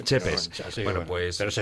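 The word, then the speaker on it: Țepeș: Dicen los expertos dicen que el Tepes se pronuncia Chepes. Chepes.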